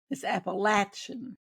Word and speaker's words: Appalachian: I've heard people pronounce it Appalachian and Appalachian. So So is it Appalachian? It's Appalachian. It's got a metals. Yeah. Appalachin.